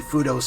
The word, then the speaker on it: Fudoh: I always pronounce it as Fudoh, but no, it's Fudoh.